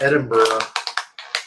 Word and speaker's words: Edinburgh: There's no O at the end. That's Edinburgh.